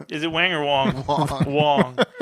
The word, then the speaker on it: Wong: but uh okay so Wang or Wong is it Wang or Wong Wong rhymes with dong Wong dong Wong okay